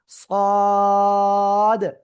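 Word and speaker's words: ص: সদ চার আলিফ টেনে পড়বো। কয় আলিফ? চার আলিফ টেনে পড়বো। সদ অনেকেই কিন্তু বলে ফেলতে পারেন সাদ। সাদ বললে হবে না।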